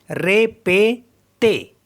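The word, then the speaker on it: répétez: इनको भी एही पढ़ेंगे तो इनको पढ़ेंगे हम रे पे ते रे पते मीस होता है रिपीट रे पते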